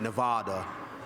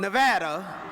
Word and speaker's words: Nevada: red from Nevada yes I was schooled that I was saying it wrong by pronouncing it Nevada so from Nevada Elena Vienna